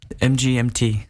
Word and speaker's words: MGMT: or is it pronounced management MGMT yes that is the correct pronunciation yes because some people